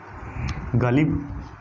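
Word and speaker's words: ग़ालिब: अब ये अगर ये बिंदी ना हो तो ये गालिब है, पर अगर बिंदी आ गई है तो अब इसका फ़र्क देखिए क्या पड़ा है इसके प्रोनाउंसिएशन में। अब ये गालिब नहीं गालिब हो गया है, गालिब। अब गला जो है वो थोड़ा भर सा जाएगा, गालिब।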